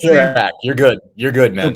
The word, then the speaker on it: Dopirak: How do you pronounce it? Dopirak. You're good. You're good, man. Dopirak.